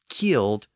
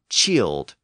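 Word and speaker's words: cild: i l d and the pronunciation of that word eventually evolved from its original killed to chilled which later became child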